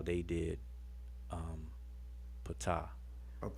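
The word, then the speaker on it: Ptah: I say patah because it ain't Greek. It's the Greeks who leave off the P before their name. Let me ask y'all, is it patah or ta? Well, I say it as like the standard convention, which is patah. Yeah, I pronounce the P.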